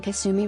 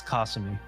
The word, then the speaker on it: Kasumi: Wait, I've been pronouncing Kasumi wrong this entire time. My life is a lie. It's Yeah, it's Kasumi, but people will say Kasumi, so they want you to sue them.